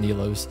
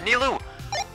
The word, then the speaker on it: Nilou: Or Nilou? I've been saying it wrong the whole stream. It's Nilou.